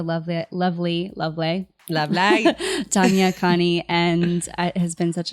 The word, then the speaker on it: Khani: lovely lovely lovely Tanya Connie and it has been such an honor did I say your last name right again yeah Connie okay I'm not great